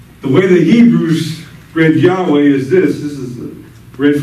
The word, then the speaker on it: Yahweh: How do we get it to make it pronounced? We know it's Yahweh.